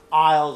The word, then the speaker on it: aisle: and is L but the S is silent you don't pronounce it but when you write it you need to write it correctly so see this is over here you write it in English but you don't pronounce it so you say I oh and then if it's